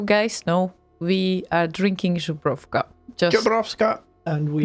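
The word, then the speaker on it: Żubrówka: know, we are drinking Zubrovka. Zubrovka. And we Not are Zubrovska, whatever. Zubrovka. And we are using proper coasters for them. It is important how it's called. It's Zubrovka, okay?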